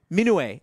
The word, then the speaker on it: Minot: Vincent Minot? Minoué. Oh, it is 3. It's like Nimue. It's like it's like a Minoué, but Happy Ubisoft French Wine Day, by the way.